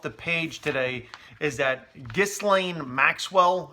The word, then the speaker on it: Ghislaine: page today is that dis Lane Maxwell I believe her name is pronounced Ghislaine Maxwell Jeffrey Epstein's girlfriend was